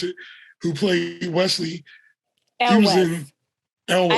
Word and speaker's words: Elwes: up the Cary Elwes, if that's how you pronounce it, who played Wesley. Elwes.